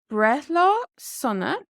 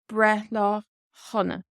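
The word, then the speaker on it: Breithlá sona: But now that we've got the disclaimer out of the way, happy birthday is Brethla Sunna or Brethla Hunna.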